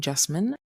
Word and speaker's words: Jessamyn: I have a very spunky way of introducing myself and that is my name Jasmine rhymes with specimen but with a J.